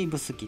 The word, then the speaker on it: 指宿: がこの指宿駅指に宿と書いて指宿と読みます自動改札機など